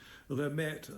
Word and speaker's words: Lemaitre: Lemaitre, like the Maître D, is how it's spelled.